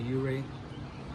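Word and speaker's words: Ouray: Well, if I ever come back to Uray, that's how you pronounce it, right? Colorado. Uray, yeah.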